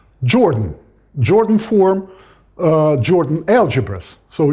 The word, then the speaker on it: Jordan: Okay, but of course in English they are both pronounced, they are both spelled like that, and they are both pronounced Jordan.